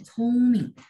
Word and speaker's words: 聪明: Ibu mau tambahin keterangan bahwa mei mei hen chongming, chongming. Jadi chongming bacanya ada angin ya. Chongming.